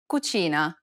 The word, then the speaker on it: cucina: and i sounds together this sound is identical to the ch in church the only difference though is that it's stressed even more in italian than it is in english listen to the example